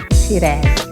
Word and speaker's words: Shiraz: People, how do you pronounce it? We actually personally know him. Shiraz. No, she does not raz. Shiraz.